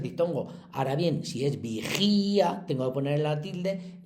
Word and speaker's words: vigía: Si dijéramos vigia, que no lo decimos, pues ya está. Si decimos vigía, hay que ponerle tilde a esta porque está al lado de una fuerte.